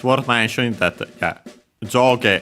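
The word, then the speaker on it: 上: worth mentioning that yeah jo on its own top and bottom uh up and down and so on is accented on the first syllable.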